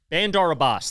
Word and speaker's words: Bandar Abbas: Bandar Abbas, that's how you say it.